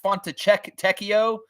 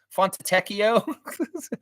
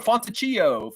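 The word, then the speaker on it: Fontecchio: be like oh that's how you say that font Teo font Teo I was called him fonio fonio fonio or something like that you know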